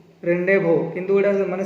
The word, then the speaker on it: rendezvous: एटा किंतु प्रोनाउंस करा जिवो रेंडेवो, रेंडेवो, किंतु एटा माने स्पेलिंग टा होची RENDEZVOUS 2018 आसला।